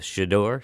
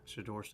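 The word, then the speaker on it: Shedeur: So you're you're a fan of Shidor." Shidor is how you pronounce his name. Shador.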